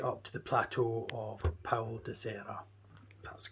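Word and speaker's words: Paul da Serra: These guys have been found at all altitudes throughout Portugal, ranging from coastal areas right up to the plateau of Paulo de Serra. That's the correct pronunciation.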